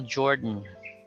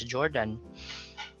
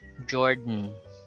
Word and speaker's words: Jordan: river ben gordon so you don't pronounce the o there or the a you just pronounce the d then pronounce the end directly jordan gordon certainly burdensome we're